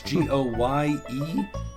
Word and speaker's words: Goemon: Goemon Sushi House? Yep. My Japanese is not very good. I apologize. Goemon Sushi House. That's Goyemon.